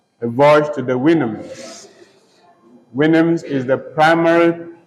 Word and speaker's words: Houyhnhnms: Winims is the primary pronunciation of the word. Some also call it Houyhnhnms, all right? But Winims is the primary pronunciation. It is spelled Houyhnhnms, Winims.